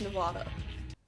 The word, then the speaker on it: Nevada: this mountain range cm Nevada significant snow a mountain range any less so supposing we use the authentic like intended pronunciation the state should be pronounced Nevada despite how obnoxious that